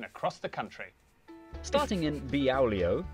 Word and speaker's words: Beaulieu: Starting in Beaulieu. Beaulieu.